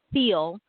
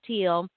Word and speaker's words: Thiel: Now, we mispronounced his name. I think we were calling him Peter Thiel. It's actually pronounced Thiel. I had to jump on YouTube real quick this morning and learn how to pronounce his name, as well as Ryan Lochte.